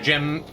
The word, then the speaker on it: Jim B: Jim B. Hello, crazy vampir, please. The B is silent. Call me Mr. Jim.